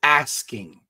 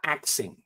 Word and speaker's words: asking: The word is asking, A-S-K. It's not axing. You're not chopping down a tree.